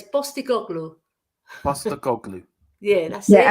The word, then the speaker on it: Postecoglou: Because P is pronounced as a B in Greek, yeah? So it's Postecoglou.